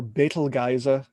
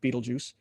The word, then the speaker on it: Betelgeuse: This star is called Betelgeuse, or Betelgeuse, if you pronounce it properly in Arabic, but everybody calls it Betelgeuse.